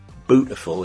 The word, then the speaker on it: Bootiful: Bootiful is how you say beautiful in Norfolk, which is where Bernard Matthews lived.